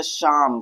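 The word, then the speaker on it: psalm: और आप जानते हैं जब भी पी एस से पहले आता है तो पी क्या होता है? साइलेंट होता है। तो यहां पर हम पी को साइलेंट रखेंगे। यानी कि पी का प्रोनाउन्सिएशन नहीं करेंगे।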